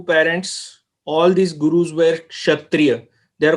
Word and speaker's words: Kshatriya: All these gurus were Kshatriya. They are called Khatri, but all these gurus were Kshatriya. You know, upbranch. It's a upbranch, a mispronunciation of Khatriya, Kshatriya.